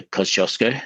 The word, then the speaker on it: Kosciuszko: And so doing that in a relatively safe environment such as the main range on the way up to Koshosco as the Polish would pronounce it.